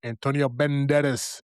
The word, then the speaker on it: Antonio Banderas: We got Dominic Sessa, Emilia Jones, Leo Woodall, Rich Sommer, Antonio Banderas.